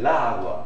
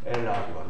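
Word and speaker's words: agua: 라 아구아. 또 발음이 불편하죠. 그러니까 이렇게 안 적고 어떻게? 엘라 아구아로 적는다 이겁니다.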